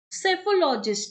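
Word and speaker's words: psephologist: सेफोलॉजिस्ट, सेफोलॉजिस्ट में P silent रहेगा, एस से स्टार्ट होता है, याद रखना, ठीक है। पी साइलेंट है, दैट इज करेक्ट।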